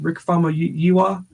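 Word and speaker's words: Rick Famuyiwa: like the Rick uh if I could ever pronounce his name Rick Fama you are yeah that's how you pronounce it that intrigues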